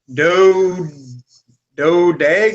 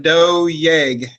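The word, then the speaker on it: Dó Dhéag: The pronunciation's on the side. It looks like Doyeg. DOH hyphen YAYG. Okay. It's Irish Gaelic for the number 12.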